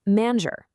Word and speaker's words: manger: Before an E, I, or Y, you get a soft J sound, like the S in treasure. Think manger. Before A, O, or U, you get that hard G sound we all know, as in gâteau.